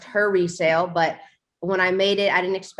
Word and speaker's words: he_resale: HE_resale, RESALE, pronounced her resale, but when I made